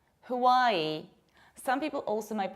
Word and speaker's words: Hawaii: Another state of beautiful beaches in nature is not called Hawaii, but Hawaii. Hawaii. Some people also might pronounce it like Hawaii, but local people of the islands pronounce it like Hawaii with a glottal stop.